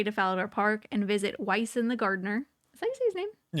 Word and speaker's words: Wyson: Make your way to Falador Park and visit Wyson the gardener.